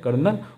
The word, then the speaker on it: colonel: And officer of high level in the army, जिसको हिंदी में बोला जाता है कर्नल, और इंग्लिश में इसको स्पेल किया जाता है कॉलोनल, COLONEL।